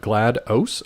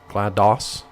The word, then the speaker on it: GLaDOS: Oh, is it GLaDOS? Okay, then that's my fault, Tiffy. I always just pronounce it Gladys because I just thought that's what they were going for.